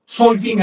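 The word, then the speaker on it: Tzolk'in: Ahora, las cuatro cuentas tienen un mismo mecanismo de base, el Tonalpowali, también llamado en maya Solkin en la actualidad. Se pronuncia con S.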